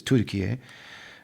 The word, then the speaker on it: Türkiye: Literally, most of the country of Turkey, which they've officially renamed the way they pronounce it here, which is Türkiye.